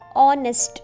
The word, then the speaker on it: honest: Okay, H is silent, so we are saying an honest man.